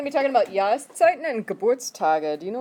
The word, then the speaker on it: Jahreszeit: Okay, the next one, die Jahreszeit. Harder to say because of the SZ combo in the middle.